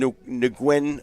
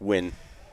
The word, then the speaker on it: Nguyen: that was huge for the N nwin or fans out there or correctly pronounced win which is a great